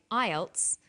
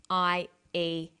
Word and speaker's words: IELTS: With an acronym, we don't pronounce the individual letters, we pronounce it as a word. So we say IELTS, not IELTS.